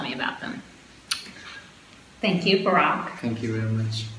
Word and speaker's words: Barak: Thank you, Barak. Thank you very much. Pronounced like Barack Obama, but not Barack Obama with the same pronunciation.